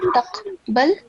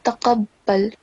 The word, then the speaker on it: تقبل: It's not taqbal, it's taqabbal.